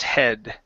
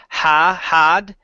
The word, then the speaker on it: head: lay his small distressed head. And lay his small distressed head. Okay, much better with these words here. Now, right here instead of had, he. Close your mouth just a little bit more.